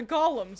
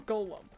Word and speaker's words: golem: recommend that poison the Golems are a lot stronger than the little skele guys were is it golum or Golem Golem they're Golems that's how you pronounce it the Golems are